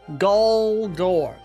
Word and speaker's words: Goldor: But the spell for Goldor, turn the target into solid gold, it's spelled G-O-G-O-R. Goldor. Go-door. Very similar sounding, but there is a spelling difference and a very audio difference.